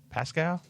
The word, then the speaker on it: Pascal: Pascal.